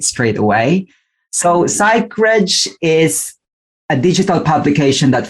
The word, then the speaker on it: Psychreg: Yes, and first I have to congratulate you, Richard, because not a lot of people would be able to pronounce Psychreg right straight away. So Psychreg is a digital publication that focuses on psychology, mental health, and wellness.